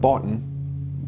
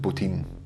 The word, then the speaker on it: Bottin: guy called Rob Bottin looks like botton pronounced butene funny meme I saved